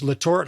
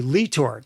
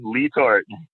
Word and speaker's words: LeTort: slit Ohio tying uh these Lort Hoppers and I know now after talking to you that it's actually leor and that's the correct way to say it correct that's right my man lee Tor okay and he would